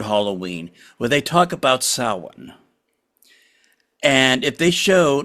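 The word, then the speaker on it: Samhain: But when uh oh they're talking about that that word, you know what they they they pronounced it Sam Hayne like it's a person like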